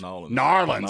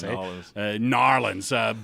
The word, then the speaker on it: New Orleans: What do the locals say? New Orleans or New Orleans? Narlands. They say different. They say different from everybody else. Narlands.